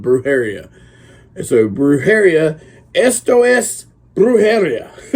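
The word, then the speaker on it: Brujeria: a new album uh breuh Haria or Brew brara maybe is how the correct pronunciation but nobody calls him that everybody I know calls them bruh Haria so bruh Haria estos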